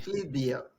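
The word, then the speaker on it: Flyvbjerg: Ahí, Flipbeer. La J se pronuncia como I en danés.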